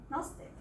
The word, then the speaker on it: gnostic: So if you see the first word is pronounced nastic, gnostic.